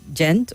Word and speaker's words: Gent: It says your guest said he was born in is it Gent or Gent? Gent. So he's asking the correct pronunciation of both town if you believe that